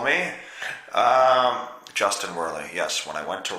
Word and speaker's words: Justin Werley: the Chinamen call me Justin Worley yes when I went to wrestle in China they pronounced my name to sin were ler because I don't know